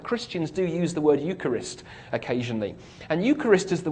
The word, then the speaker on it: Eucharist: is really interesting it uses a word that's pronounced Eucharist Eucharist and we get an English word from